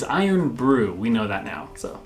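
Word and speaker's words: Irn-Bru: where we mentioned it we were saying urn breath which is embarrassing they were wrong yes it is iron brew we know that now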